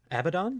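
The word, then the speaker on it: Abaddon: How do you pronounce his name? Abdon. Abdon.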